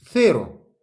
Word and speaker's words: cero: Zéro, ça se dit cero. La prononciation, le C avec un E, c'est comme un Z. La langue entre les dents.